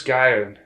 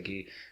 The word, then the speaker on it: Guy: the english it's still spelt g-u-y but it's pronounced ghee so i've yeah that confused me at first i'm like who's guy who they didn't even say guy but they say gee yeah so i'm sure it's going to cause